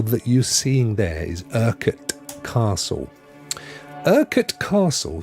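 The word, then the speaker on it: Urquhart: um that castle that you're seeing there is erket Castle spelled with a Q as you can see it's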